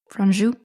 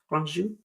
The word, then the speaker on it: Franju: Franju. Franju.